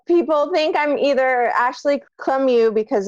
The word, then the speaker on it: Lemieux: I'm Ashley Lemieux. I'll pronounce my last name for all of you